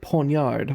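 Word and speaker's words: poniard: You you you you you you said ponyard with the like the the silent G in it.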